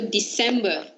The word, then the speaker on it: December: C in the middle too. Sounds S. So, December. December.